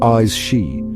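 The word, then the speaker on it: Aes Sídhe: In the heart of the Celtic otherworld, veiled from ordinary sight, dwell the AE seed, pronounced eyes she, a race of beings,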